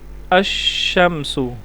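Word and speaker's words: الشمس: अल अल ठीक है लेकिन अशा में लाम का साउंड नहीं आ रहा लाम साइलेंट है हमजा जो है ना वह डायरेक्ट शीन से डूड रहा है यहां पर लाम साइलेंट है इसकी मिसाल आप देखें अमस अमस यहां पर लाम नहीं पढ़ा जा रहा लाम साइलेंट है और अल क की मिसाल है अल कमर यहां पर देखें लाम पढ़ा जा रहा है फर्क समझ आ रहा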